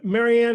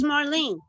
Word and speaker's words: Marlene: can I ask uh Marianne is your name Marianne or do you pronounce it differently no it's Marlene Marlene just call me no